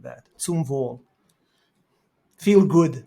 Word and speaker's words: zum Wohl: zum Wohl.